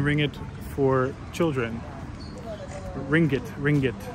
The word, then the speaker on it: ringgit: I say ring it, and somebody just pointed out in the comments to me that that's incorrect. It's like two syllables, ringgit, right? Something like that, not ringgit.